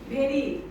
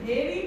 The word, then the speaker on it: very: What is usually what we make mistake that very. Some people say very powerful, but this is very. That teeth will touch the lower lip.